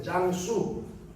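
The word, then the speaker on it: 江苏: 장수만세, 짱수, 수로 발음합니다. 중국말로는 한자로는 강소. 중국은 강을 장이라고 발음합니다. 소는 수로 발음하고.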